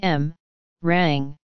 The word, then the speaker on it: meringue: morang Wikipedia article audio Morang M rang French pronunciation is a type of desert often associated